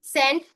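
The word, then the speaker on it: scent: याद रखना है कि जब भी एस के बाद सी आता है तो सी साइलेंट होता है जैसे कि साइंस की स्पेलिंग होती है।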